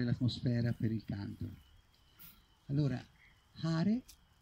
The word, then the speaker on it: Hare: Allora, Hare si pronuncia come gli olandesi, con l'H, proprio l'H aspirata. Hare, quindi è una forma di pranayama anche questa.